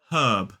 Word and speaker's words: herb: English it's more like herb. So let's talk about those differences very quickly. So in a modern British RP accent, we do pronounce that H, herb, and we do not pronounce the R.